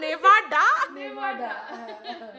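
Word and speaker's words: Nevada: ঠিক মানে কাছে গেছো কিন্তু নাভাডা বলে কোন স্টেট তো হয় না হ্যাঁ উচ্চারণ বা নাম হচ্ছে নেভাডা ও আচ্ছা আচ্ছা নেভাডা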